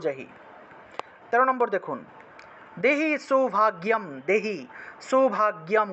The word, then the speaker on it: সৌভাগ্যম: 13 নম্বর দেখুন, দেহি সৌভাগ্যম, দেহি সৌভাগ্যম, গয়ের সাথে জফলা থাকায় গিয় উচ্চারণ, দেহি সৌভাগ্যম আরোগ্যম, গয়ের